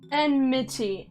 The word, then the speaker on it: enmity: Enmity? No, that's too many syllables. Enmity. Enmity. Why? Why would anyone say enmity? Enmity. It's like committee! Okay. Enmity! Alright, that's what. Just gotta say the itty part more.